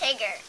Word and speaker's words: Tigger: what's your cat's name tigger really like tiger right yeah but it's pronounced tigger oh okay cool why